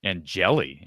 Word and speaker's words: Angeli: Brennan Sullivan is one of a few quarterbacks in the portal next to Steve Angeli. Is that the right is that how you pronounce? Yep. And and Jelly.